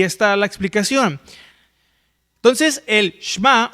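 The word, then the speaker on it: שמע: Miren, esta palabra oiréis o la que se traduce por oír viene del hebreo shma o muchas veces literalmente lo pronuncian como shemá, ¿no?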